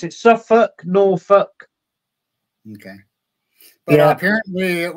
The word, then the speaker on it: Norfolk: We pronounce it Suffolk, Norfolk.